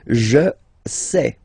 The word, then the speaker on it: sais: Je sais. Okay, final S not pronounced, and then you get this A-I, E. Okay, je sais, sais.